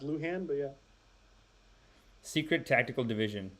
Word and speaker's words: Lujan: Luhan that's her name Al Luhan please pronounced Luhan but yeah secret tactical